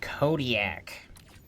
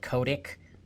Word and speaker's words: Kodiak: Say it with me, folks. Kodiak. What the hell did I say? Kodic. Like those cameras from the '9s.